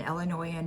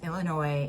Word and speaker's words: Illinois: not piss off an illinoisan faster than if you pronounce Illinois as Illinois if you if you put the s in it cuz it's a silent s so if you put